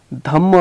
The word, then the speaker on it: धम्म: धम्म हमने ऑलरेडी देखा था कि कैसे र साइलेंट होता है, तो धम्म है वो righteousness, emphasising non violence and tolerance.